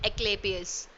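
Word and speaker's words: Asclepius: हाँ, एक्लेपियस, यस, the correct pronunciation is एक्लेपियस।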